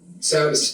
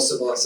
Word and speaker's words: Savvis: You just remember Savvis like rhyming with Travis. But if you want to call it Savas, that's fine.